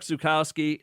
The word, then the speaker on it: Zukowski: And Chuck Zukowski, am I saying it right?